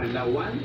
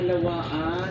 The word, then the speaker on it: lawaan: Lawan. Lawan ah lawaan hindi lawan.